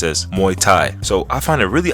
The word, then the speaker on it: Muay Thai: I say my thigh cuz that's how you pronounce it my thigh now I never did my thigh in my life but even I knew that's pronounced as Muay Thai so I find it really odd that a